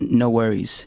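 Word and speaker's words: NxWorries: No Worries. NX Worries.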